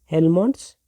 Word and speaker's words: Helmholtz: तो ये एक दूसरे नाम से चलता है जिनका नाम है हेलमों्स। यह एज साइलेंट है।